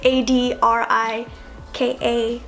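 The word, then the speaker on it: Adrika: adria I know it's dri I've been told lot of variations of my name throughout my life but it is spelled ADR and pronounced ad Rika okay so what is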